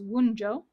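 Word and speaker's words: Wunjo: that W and V the pronunciation is wjo theme is Joy the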